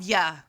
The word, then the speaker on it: ye: There was a lot of, I don't know, is it yeah? Y-E. I don't think it was yay. I think it's like ya.